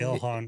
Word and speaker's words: Ilhan: Omar orl Ilhan. Ilhan.